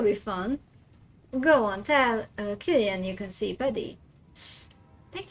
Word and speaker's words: Cillian: I thought back in the day that you have to pronounce it as Cillian. And then I found out that you have to pronounce it as Killian, and that just made me sad.